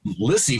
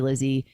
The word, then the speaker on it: Lissie: you know z's and i was lizzy for most of my life even though it was always spelled with s's i'd just be like whatever it's fine lissy lizzy so there was always